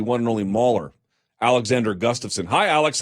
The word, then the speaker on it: Gustafsson: How do you pronounce it? No, like you said, Gustafsson.